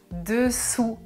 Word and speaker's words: dessous: Je prononce dessous. La langue ne touche pas les dents.